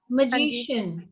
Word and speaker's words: magician: MAGICIAN। CIAN है ना? मैजिशियन। मैजिशियन।